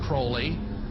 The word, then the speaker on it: Crowley: have his name pronounced crowley to rhyme with holy and the satanist today